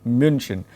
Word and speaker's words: München: It's not München, no? Even in English it is not Bayern Munich. It is Bayern Mu. Myunich, almost. Yeah, München.